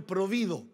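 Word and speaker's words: próvido: Pero le pone la palabra provido, con acento en la I.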